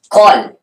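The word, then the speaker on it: כל: Isso é uma palavra monossilábica. Então a pronúncia é kol, tudo. Porque a sílaba é fechada.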